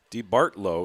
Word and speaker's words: DeBartlow: DeBartlow is how we pronounce it.